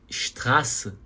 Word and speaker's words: Straße: Então, quando você pronunciar a palavra Straße, essa letra A aqui, ela é um pouco, você vai prolongar um pouquinho esse A aqui. Você não pode falar de forma muito curta.